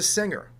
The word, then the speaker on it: singer: Why do we pronounce the word finger with a hard G and the word singer with a soft G?